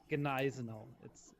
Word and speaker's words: Gneisenau: in that case, it's Gneisenau. The G is not silent.